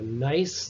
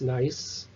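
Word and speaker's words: gneiss: into a schist into a nice that's pronounced nice okay so each one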